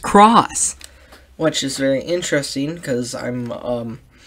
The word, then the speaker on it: cross: fan you'll remember that it's not supposed to be pronounced X it's supposed to be pronounced cross which is very interesting